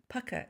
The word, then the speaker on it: Pukka: a confession to make I've been start pronouncing this name wrong it's pukka pukka tea it's a UK